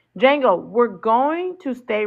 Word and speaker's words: Django: I keep pronouncing the D. Django.